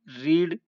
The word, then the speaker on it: read: रीड यानी पढ़ना, READ, रीड, रेड, रेड। यहाँ पे देखिए प्रोनाउंसिएशन में डिफरेंस होता है, रीड की सेकंड फॉर्म हम रेड पढ़ते हैं और थर्ड फॉर्म भी रेड पढ़ा जाता है।